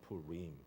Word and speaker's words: Purim: I guess Purim in English could be pronounced in different ways, but it's actually it's a Hebrew background, and when you have the ending like that, it actually is a long I, Purim, so something like that.